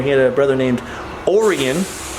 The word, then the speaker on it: Orion: had a brother named orian that's Orion but pronounced weird and Henry who lived